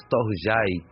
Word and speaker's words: storge: os demais e o a pronúncia de storge na verdade é storj e refere-se ao amor